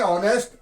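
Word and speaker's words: honest: दिया है य देखिए ऑनेस्ट ऑनेस्टली हम क्या करेंगे एन ऑनेस्ट एन आवर आप कहोगे आवर पढ़ा जा रहा है हां एच के यहां पर ड नहीं होता है साइलेंट में यहां पर आएगा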